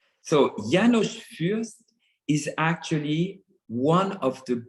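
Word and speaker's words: János Fürst: I read that you were taught by Janos Furst, if Yes. that's how you pronounce his name.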